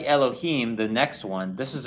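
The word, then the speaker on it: אלהים: Repeat after me. Elohim. Elohim.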